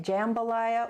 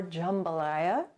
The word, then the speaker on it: jambalaya: i found out that you can say it jambalaya or jambalaya and it's a rice